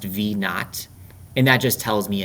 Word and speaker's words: v naught: This is pronounced v naught, and that just tells me initial launch speed.